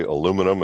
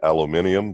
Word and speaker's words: aluminium: Well, heavy metals like lead and mercury, and Americans say aluminum, and you folks probably say aluminium, but you know what I'm talking about.